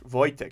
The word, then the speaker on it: Wojtek: through the war wow Tech vojtek is that is that a better pronunciation vojtek uh he was born